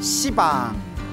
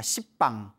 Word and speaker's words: 시방: 공간을 가리켜 시방이라고 하는데요 원래 한문으로 쓰면 십자의 방위 방자 그래서 원래는 방입니다 십빵 근데 십빵 하면 좀 너무 욕 같지 않습니까 발음이 너무 억세 가지고 이제 시방이 표현을 합니다 모든 공간 이 우주의